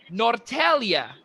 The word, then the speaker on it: Norrtälje: So Norrtälje, Sweden. How's that? Very good. Very good. I love it. It took me about 3 to 4 hyphenetic spells to get that. But Norrtälje, Sweden, rather.